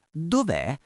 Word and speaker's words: Dov'è: Ricordate la pronuncia, l'accento è sulla E finale.